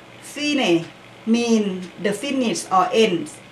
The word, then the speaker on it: Fine: Phi pronounced fine mean the finish or end.